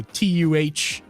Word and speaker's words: tomato: Like I would take TOEMAYOH. That's how I would pronounce it phonetically. Oh, okay. I see what you're saying. I think I say it like tuh. Tomato. Tomato. Yeah, tomato, man. You're right. Yeah. You're right. I don't say toe. I say tomato. So TUHMAYOH. Tomato.